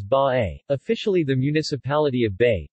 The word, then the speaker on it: Bay: they pronounced as by officially the municipality of